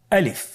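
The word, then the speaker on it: ألف: বলতে হবে বলুন আলিফ আলিফে কিন্তু কোন টান নেই আপনারা বুঝতে পারতেছেন আমি যখন আলিফ বলছি এর মধ্যে কোন টান হবে না আলিফ আবার বলুন আলিফ আলিফ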